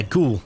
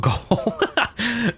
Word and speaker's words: ghoul: Is it Ghoul? Yeah, Ghoul, not Goal. Ghoul, I think is how you say it.